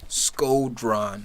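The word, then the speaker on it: Shkodran: Skodran.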